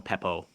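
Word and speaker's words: Pappoe: Owen Papo.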